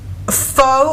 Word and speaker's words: pho: But every time I see it, they put a pronunciation thing in it, and they pronounce it pho, F-U-H.